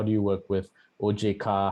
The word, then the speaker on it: OJK: do you work with oj car how do you work with bai by the way those are the indonesian pronunciations of ojk and bi i speak to the